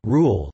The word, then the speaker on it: Reuel: Because of the difficulty of its pronunciation by European speakers, Rul, with the first syllable strong accented, is nearer to the true pronunciation.